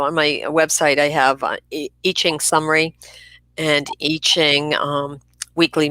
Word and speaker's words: I Ching: Well, all of Feng Shui is based on the I Ching, and that's spelled I-CHING. So, people often say the I Ching, but it's pronounced the I Ching.